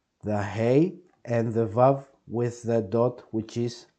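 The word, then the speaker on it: ו: And whenever you have a vav with a dot to the left, it's u. So, ho, ho, ho. You see, you mix both sounds. The hey and the vav with the dot, which is a o.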